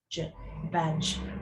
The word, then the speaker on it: badge: some kids will go we do tell them the D is silent but badge which letter is silent indeed try that again